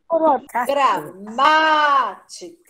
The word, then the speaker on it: gramática: Gramática. A sílaba tônica não é o ma?